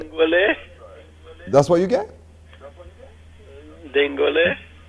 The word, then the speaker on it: dingole: It is dingole. And that is how dingole is spelled.